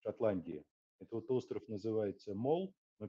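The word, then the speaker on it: Mull: Это вот остров называется Мол, но пишется как Мол через Ю.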